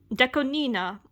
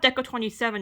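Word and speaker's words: DECO*27: Oh, and also, Deco Nina. It's not Deco 27, it's Deco Nina. That's the official pronunciation.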